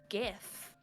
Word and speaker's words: GIF: Our next topic, how do you pronounce GIF?